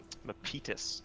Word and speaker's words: Mapitas: An excellent macro decision coming out from Mapitas, as I pronounced that correctly.